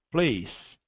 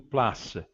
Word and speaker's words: place: Isso em francês ele não se ocorre porque, na realidade, o e final praticamente nem é pronunciado. Eu digo place, não place, nem place.